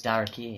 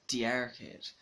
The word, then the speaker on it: D'Arcade: You just pronounce Darkade. Darkade. Because if it was D-E, it'd be D-arcade.